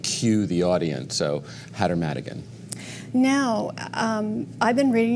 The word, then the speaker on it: Madigan: And I didn't pronounce that right, but it's Hatter McAdigan. It's Madigan actually.